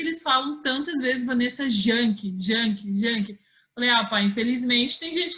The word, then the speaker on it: Janke: Vanessa Yankee, é origem alemã? Isso, origem alemã. Em alemão, o J, em alemão, ele tem um som de I, né? Então, por isso que a pronúncia é Yankee.